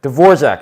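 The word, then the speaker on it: Dvořák: Dvorak, that's how you say it. Dvorak, not Dvorak.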